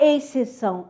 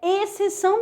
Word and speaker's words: exceção: Nada de falar exceção, é exceção mesmo. Esse x aqui não é pronunciado.